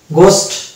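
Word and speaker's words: ghost: তারপরে 2 নম্বর ফর্মুলা পাবো যে কোনো শব্দ যদি জিএইচ দিয়ে শুরু হয় তাহলে সেক্ষেত্রে আমরা ব্রিটিশ ইংলিশের ক্ষেত্রে আমরা এইচ কে মানে সাইলেন্স রেখে উচ্চারণ করবো। এইচ যদিও আছে তাই এইচ কে আমরা বাদ দিয়ে উচ্চারণ করলেই হয়ে যাবে, যেমন গেটো, গোস্ট এবং গার্কিন।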